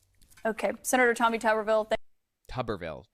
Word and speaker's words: Tuberville: Senator Tommy tuberville than tuberville tuberville that's how it's pronounced okay like bathtub tuberville anyway you know this